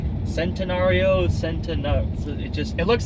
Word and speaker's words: Centenario: kind of looks like centenario Centeno it just it looks like centenario but leave it to the Italians for one see a pronounced like a CH it is a supposed